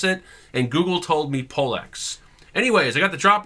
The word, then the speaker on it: Pollex: And yes, I did search on Google on how to pronounce it, and Google told me Pollex.